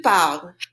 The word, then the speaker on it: parles: I now have parle, the stem, and I'm going to put on the ES, which is silent. Say it after me. Tu parles. Tu parles.